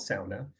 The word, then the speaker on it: sauna: which I should say I'm deliberately pronouncing sauna not SAA because what's brought us here today is to discuss does America have a sa of culture so I want to use the American pronunciation not the traditional pronunciation but Justin or others